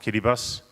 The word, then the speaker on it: Kiribati: The Line Islands belong to the Republic of Kiribati, written as Kiribati, but pronounced Kiribati, former Gilbert Islands.